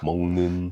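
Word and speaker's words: 먹는: Muknyeon is eating, Mongin. and yeah, I When, shouldn't try when and a pronounce. gyuk is next to an end, it becomes mong. Mongin.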